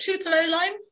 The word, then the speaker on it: Tupelo Lime: phillips with us today am i going to say this right is it two pillow line that's exactly right okay i think i